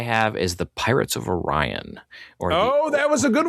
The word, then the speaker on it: Orion: Orion is the proper way to pronounce it.